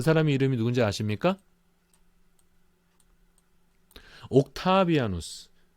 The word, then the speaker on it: 옥타비아누스: 옥타비아누스. 우리는 옥타비아누스라고 발음하고 뭐 유럽에서도 뭐 옥타비아누스라고 발음하고 영어적인 발음으로는 그냥 옥타비안 뭐 이렇게 예, 영어적인 발음은 그럽니다.